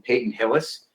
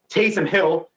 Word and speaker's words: Taysom Hill: I realized last week I pronounced his name wrong. I called him Peyton Hillis, and then did again today in our pre-show conversation. Taysom Hill of the New Orleans